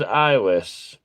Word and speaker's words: Islis: It is eyeless. We do spell it Islis, but that's okay. Eyeless works too, the way you spelled it.